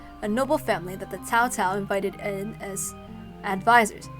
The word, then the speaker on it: Cao Cao: The Shima clan, a noble family that the Cao Cao invited in as advisors. It's not Cao Cao, it's Cao Cao, okay? The C is a T.